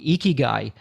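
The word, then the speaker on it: ikigai: because it's a way of life and it's pronounced iky. I k I g ai eeky guy and for a lot of western people this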